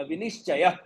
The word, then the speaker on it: विनिश्चय: चय करके नहीं आएगा, विनिश्चय. तो य और ह एक साथ जोड़ के बोलना है, पर ह अलग से आपको नहीं बोलना है.